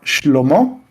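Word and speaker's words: שלמה: Salomón en hebreo se pronuncia shlomo y significa la paz está con él.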